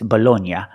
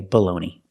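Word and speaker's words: bologna: this is American English I know in Italian it's bolog but this is not Italy this is America we say baloney the first word is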